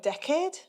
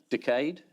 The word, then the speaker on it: decade: one per decade yeah how do you say the word decade decayed decade up to you you say decayed i see if